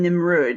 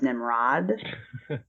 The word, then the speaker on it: Nimrud: something real quick so you guys are saying nimrud and I understand that you also mean the word that a lot of people pronounce Nimrod I know it's a mispronunciation but I just